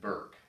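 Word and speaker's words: Bierk: This is a painting done by then singer Sebastian Bach's father, David Burke. I think that's how you pronounce his name. It's B-I-E-R-K.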